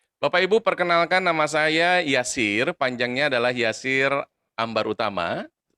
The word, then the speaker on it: Yasir: untuk mendapatkan kehidupan yang mudah Armin Bapak Ibu ejaan Yasir itu adalah ymki alfasera India Eko Romeo Yasir